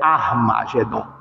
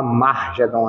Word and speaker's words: Armagedom: Uma coisa que é interessante que é a gente saber a pronúncia, né? É armagedon, né? Muito comum a pessoa falar margedon, né? Não sei se já ouviram falar, mas eu já ouvi bastante. Eh, amargedon, as pessoas falam, mas o nome correto é arma.